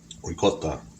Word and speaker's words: ricotta: Ricotta.